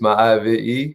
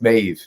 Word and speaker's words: Maeve: Is it Mauve? Mauve? Mauve? I don't think it's Mauve. No, I think it's Maeve.